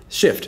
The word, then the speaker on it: shift: I'll ask them, how many syllables is that? Hey, they might say two, and I'll say, wrong. Wrong. Go back to level five. No, shift. It's one syllable.